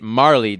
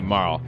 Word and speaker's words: Marle: so MA ah loo that is the closest Japanese equivalent to morale if they had wanted to make it Marlee they would have spelled her name ma with a dash and Li with another - ma lead me Marty so her name is definitely Mauro now this last one